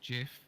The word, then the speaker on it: GIF: the term because you don't like how it's pronounced yeah the guy who creates it gets inside the guy who created it said jiff therefore Jeff is correct over time and through